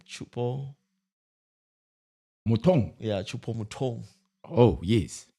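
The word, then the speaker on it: Choupo-Moting: How do you pronounce that name? Chupo. Mutong.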